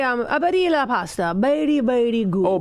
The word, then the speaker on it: Barilla: Well, yeah, you're gonna, as I said, you're gonna want to say the L because it's not Spanish. Right. So the double L is barilla. Ah, right, Badia. I've always said Barilla, and I think that's how it's pronounced.